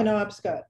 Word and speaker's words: Penobscot: Am I pronouncing that correctly? Penobscot? Penobscot.